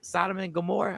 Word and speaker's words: Sodom and Gomorrah: was like the it was the high class sodom and gomorrah am i saying it right yeah yeah you